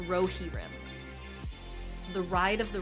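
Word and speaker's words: Rohirrim: Uh, someone says it's pronounced Rohi Rim. So, the ride of the Rohi Rim. It It's really pronounced Rohi Rim.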